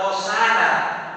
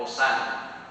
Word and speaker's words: Hosana: Es una palabra compuesta, Yoshana, que nosotros lo pronunciamos, claro, latinizado ya como Hosana, pero que quiere decir sálvanos ahora.